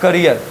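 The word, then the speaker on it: career: और इसका जब हिंदी आप लिखने जाओगे तो इसका मतलब होता है करियर, सीधा सीधा ऐसा वाला करियर।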